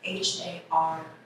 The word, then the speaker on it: Har: That's Har, H-A-R, pronounced Har. A slight tap of the tongue on the roof of the mouth. That same R sound is used in Guru, pronounced Guru. That same R is used in Siri, pronounced Siri. Guru.